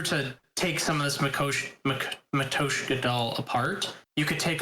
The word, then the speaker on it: Matryoshka: Matryoshka, apparently. That's how it's pronounced.